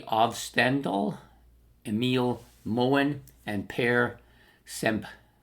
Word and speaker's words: Semb: Produced by Ollie Ovstendal, Emil Moen, and Per Semp. I think it's pronounced Sem, not Semb. I think the B might be silent, but I could be wrong.